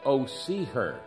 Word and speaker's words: Hosea: this 14 chapter book I pronounce it Oh see her because this is the